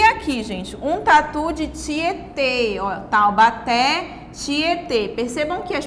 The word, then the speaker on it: Tietê: aqui com acento circunflexo palavra tietê com acento circunflexo que agora vai indicar um som fechado como se estivesse fechando mais a boca ao pronunciar essa palavra taubaté né tietê né